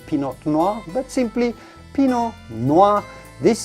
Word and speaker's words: pinot noir: we would say chardonnay pinot noir yes pinot noir the tea at the end of pinot is definitely silent so do not say pinot noir but simply pinot noir